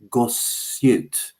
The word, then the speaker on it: Gosiute: Please look into the prehistoric lake in Wyoming called Lake Gossute, which is spelled Gosiute.